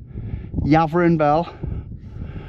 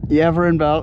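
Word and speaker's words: Yeavering Bell: Yin Bell over there Yavin Bell I'm saying it wrong apparently everin Bel the TOs East the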